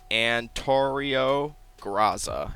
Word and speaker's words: Antorio Graza: name of this ship it's literally antario graza it's actually pretty pretty simple to say I I like to